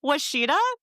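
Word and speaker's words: Ouachita: And I just want to say, Washita, I looked up the pronunciation. That is not how it's spelt. This town starts with an O.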